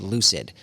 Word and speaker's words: Lucyd: One of them that we have is called Lucid. And it's spelled LUCYD.